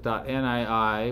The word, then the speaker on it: nii: Nifty files which have a suffix of .nii, which is pronounced ni, or .nii.gz, which is the compressed version, this is a standard format.